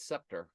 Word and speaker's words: scepter: a scepter of justice so scepter is SC all right one of those is silent because s and C both can make the S sound you love Justice and